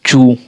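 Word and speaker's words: chew: ई डब्ल्यू क्रू और सी एच ई डब्ल्यू चू और एस एल ई डब्ल्यू स्लू टी एच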